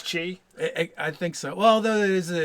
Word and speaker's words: Qi: I think with the Q it's still pronounced Chi anyway. Oh, with a Q it's Chi.